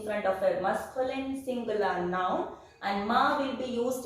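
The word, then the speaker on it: nos: Then no, that we will use notre, N-O-T-R-E, that means our.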